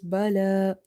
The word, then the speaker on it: بلى: Lam is having vertical fatha, so you have to read it by stretching. Bala. This ya is having no role here, so we will exclude it in recitation.